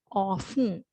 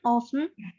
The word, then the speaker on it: often: here when we read we do not pronounce the t right so that is why we call it as silent t right so as an